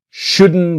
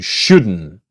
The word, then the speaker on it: shouldn't: And the T is silent. You shouldn't buy it. You shouldn't.